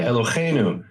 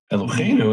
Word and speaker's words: Eloheinu: People say Elohim instead of Elohim, right? You'll hear in movies, they'll say Baruch atah Adonai Eloheinu. Eloheinu, it's with a hey. Why would you say Eloheinu? Because they don't know the difference between ha and cha.